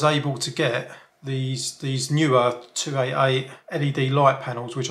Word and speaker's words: Neewer: i found a brand called newer some people pronounce it newer because it's n double e w e r but apparently it's pronounced newer or whatever right so i found their latest